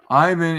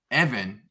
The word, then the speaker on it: Ivan: Evan there you go Ivan in English is English nobody calls me that except a few USA friends that gotcha so Evan Evan interesting good to know